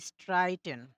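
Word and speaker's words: streiten: যেমন এখানে স্ট্রাইটেন মানে ঝগড়া করা। ঠিক আছে? দেখেন এস এর পরে টে আছে। টে যেহেতু হচ্ছে আমার কোনো ভাওয়েল না, এজন্য এর উচ্চারণটা নরমালি হইছে।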